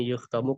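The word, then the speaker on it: يُخْتَمُ: Kenapa dibacanya yukhtamu? Karena di sini kata kerjanya berbentuk pasif atau majhul istilahnya dalam bahasa Arab.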